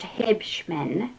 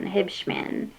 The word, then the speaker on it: Huebschman: Yes, for some reason it's pronounced Hibmen. Um Hib like I drink Mr. Pib.